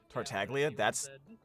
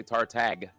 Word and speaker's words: Tartaglia: Because I thought it was Tartaglia. But I keep hearing people say Tartag. Oh yeah, I've heard people say Tartaglia too. Yeah. The G is supposed to be silent.